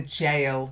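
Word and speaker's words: gaol: men of his clan and jail it's a jail yeah it's a funny sometimes you will see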